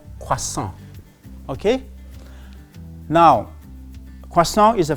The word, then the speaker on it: croissant: So this is croissant, and here the main vowel sound you hear is wa and on. So croissant.